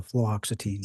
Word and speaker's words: fluoxetine: Were you aware that she was taking fluoxetine? I have difficulty with that as well. Fluoxetine.